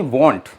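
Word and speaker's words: won't: T, will not यानी वॉन्ट, याद रखिए वॉन्ट, इसको वॉन्ट कहते हैं, वॉन्ट, यानी कि लास्ट में टी का प्रोनाउंसिएशन निकलना चाहिए, वांट, WANT, वांट नहीं, वॉन्ट।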